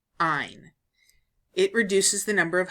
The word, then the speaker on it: -yne: ending of the name to YN e pronounced ein it reduces the number